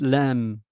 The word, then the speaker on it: lamb: I still pronounce lamb, but in fact it's lamb.